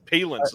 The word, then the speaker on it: Palance: Palance is what we're going with now. I usually say Palance, yeah. But I think it's All right. Palance.